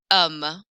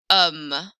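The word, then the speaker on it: homme: soft and then an um an um don't pronounce the h a man anam repeated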